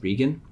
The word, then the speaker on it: Regan: i believe his name last name is pronounced regan not reagan michael regan um has been appointed